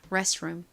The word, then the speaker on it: restroom: restroom. 이 RE 부분은 한국식으로는 레라고 쓰지만 실제 발음은 레에 가깝게 소리가 납니다. restroom. 같이 발음 연습해 볼게요.